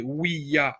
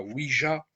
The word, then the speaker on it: Ouija: Le nom Ouija correspond à la juxtaposition du mot oui et ya en allemand. On devrait donc prononcer Ouija et pas Ouija.